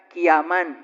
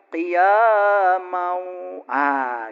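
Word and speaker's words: قياما: Nah, ini saya bacanya qiyaman. Harusnya kan qiyamau. Gitu. Karena ya itu ada kasroh 2 ketemu waw itu idgham biguna.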